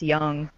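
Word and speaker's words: Jung: clued me in that it should be pronounced young yeah like the psychologist yeah he's my favorite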